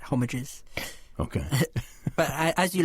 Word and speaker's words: Homages: I think the idea is that it's an English Homages.